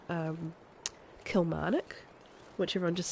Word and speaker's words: Kilmarnock: a place called um Kilmarnock which everyone just says khomanic they don't pronounce the L A lot of the